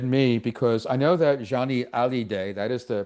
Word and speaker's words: Johnny Hallyday: This interested me because I know that Johnny Hallyday, that is the pronunciation, is not very well known in the United States.